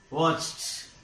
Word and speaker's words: watched: By adding ed, we change it into past tense. Watched. Watched. Here it is pronounced as watched. Watched. T. T. This ed is pronounced as t.